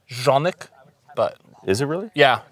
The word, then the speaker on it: Canik: is in my mind unmatched truthfully and it's pronounced jeanik but is it really yeah yeah it's eastern block oh okay yeah I I call it cannock can a gun store this dude was like